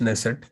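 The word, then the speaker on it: Knesset: के silent is known as नेसेट.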